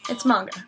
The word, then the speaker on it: manga: It is not pronounced manga. It is manga. It's a long A, and it's not manga, or it's not manga.